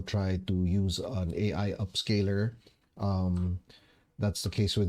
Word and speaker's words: Upscayl: to use an AI upscaler. Um, that's the case with me, and I use an app called Upscale. That's spelled Upscayl.